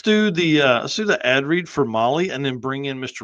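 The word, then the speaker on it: Mahle: For our podcast listeners, Molly is spelled M-HLE.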